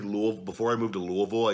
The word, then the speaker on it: Louisville: I moved to Louisville you say Louisville but it's it's supposedly Louisville and then once I was there I just always said it like that so I mean sue I actually say it both ways and I believe I